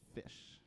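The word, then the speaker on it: Phish: That would be Down with Disease, the only music video ever produced by the band Fish. That's spelled with I thought you were PH.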